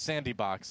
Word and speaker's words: Sanddbox: And I think it's Sandy Box is actually how you how you pronounce it.